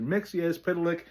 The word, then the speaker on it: Mxyzptlk: So in 1987 when John Burn had taken over the Superman line of books he had Mixer Mix Pitilik reintroduced. And in the issue number 11 of volume two of Superman, the character does spell his name out phonetically. It tells you it's Mr. Mix Pitilik and that is the